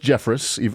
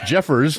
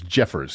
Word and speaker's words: Jeffress: It is pronounced Jeffris. Uh, sh. I got it wrong. It's Jeffers, not Jeffris.